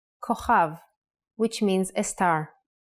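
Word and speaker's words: כוכב: Without the dot, it sounds like Ch. Chaf. A good example is the word kochav, kochav, which means a star. K, O, Cha, V, kochav.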